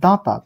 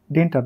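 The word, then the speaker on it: détente: next প্রশ্ন আছে এটা দাঁতা এর উচ্চারণটা হবে দাঁতা ডেন্টাত নয় দাঁতা দাঁতা শব্দটি কোন সময়ের সাথে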